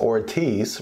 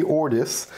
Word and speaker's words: Ortis: ortis right at first I thought it was pronounced Ortiz right because I know in Spanish that is uh some of the people I know's last name but uh apparently it's pronounced ordis so it's Vivi ordis is what we're going to be unboxing today